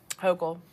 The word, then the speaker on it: Hochul: Hochul.